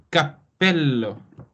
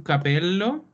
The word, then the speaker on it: cappello: per decidere capello occhio molto importante la pronuncia topi ap cappello perché se io dico un capello significa che da dalla testa prendi un capello e lo compri un po strano allora un cappello ok